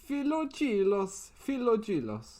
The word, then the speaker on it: Philogelos: Philogelos. Like philo pastry.